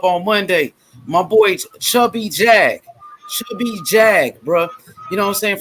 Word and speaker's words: Jag: Jag. J-A-G. His name is Jag, like the car.